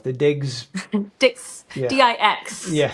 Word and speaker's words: Dix: the other the other test that I can't pronounce the digs digs yeah Dix thank you I've also heard that when people